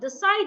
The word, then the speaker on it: decide: The side is a verb, so I'm stressing the second syllable. The side.